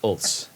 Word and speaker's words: Hulse: But the last name begins with the H. Yeah. I mean, because it's pronounced Ulse. You know, you wouldn't know that it'd be Hulse.